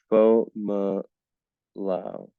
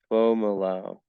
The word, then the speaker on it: Fomalhaut: So the correct pronunciation is Fo Ma Lao. So it's Fo Ma Lao. Fo Ma Lao.